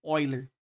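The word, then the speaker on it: Euler: aqui ó relação de eiler se escreve eer aqui né mas a ele é suíço então lendo o nome dele corretamente se diz oiler Beleza então você tem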